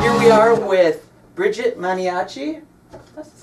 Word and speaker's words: Maniaci: Artin beautiful place here we are with Bridget manchi that's how you pronounce manchi manchi manchi good Italian name right manchi hey yeah